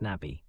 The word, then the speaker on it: Nabi: In his place stood Nabi, pronounced Nabi.